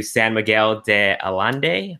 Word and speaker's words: San Miguel de Allende: out to Mexico I will be going to San Miguel de Allende that's how you pronounce it and it is an event that's